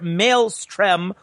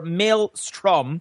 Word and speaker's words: maelstrom: Dictionary defines a Maelstrom coincidentally pronounced either Maelstrom or Maelstrom according to the same source as a dangerous area